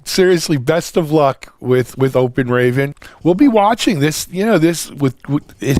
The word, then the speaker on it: Open Raven: So it's spelled just the way it sounds. Nice and easy. Open Raven, like the bird.